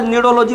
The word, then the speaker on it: cnidology: और ये नीचे वाला निडोलॉजी प्रोनाउंसिएशन है बेटा, ये होता है स्टडी ऑफ निडेरिया।